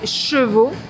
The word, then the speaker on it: chevaux: petite série des mots les plus difficiles à prononcer pour les anglophones alors comme là il y a un petit manège avec des chevaux j'en profite pour vous parler des cheveux et